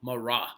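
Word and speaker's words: Marat: by the name of Jean Paul morah right like say Jean Paul Mora is spelled j a an space p a l space morah is spelled m a r a t okay now Jean Paul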